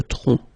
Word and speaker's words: tronc: Le tronc, okay, remember, final C is not pronounced here. Le tronc, okay?